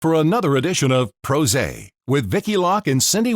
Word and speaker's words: PRosé: our show pros now it's pros a rhymes with rose because we're pr pros